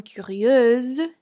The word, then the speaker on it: curieuse: I change the ending to IEUSE for the feminine form, curieuse. Now there's a Z sound at the end. Masculine plural, curieux, and then feminine plural, curieuse.